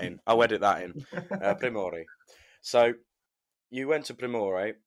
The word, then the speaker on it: Primorje: Do you want to correct me? Primorje. It's Primorje. All right, I'll Primorje. just edit that in. I'll edit that in. Primorje.